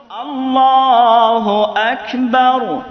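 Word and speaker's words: الله أكبر: তাকবীর গুলো সুর দিয়া দেয় সুর দেওয়ার পরে উচ্চারণটা কেমনে পড়ে খেয়াল করবেন মূলত নিয়ম হলো আল্লাহু আকবার বারের মধ্যে কোন টান আছে টান নাই এখানে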